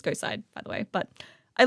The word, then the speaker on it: GHOSTCIDE: Some people are kind of asking how you pronounce GHOSTCIDE. It's GHOSTCIDE, by the way.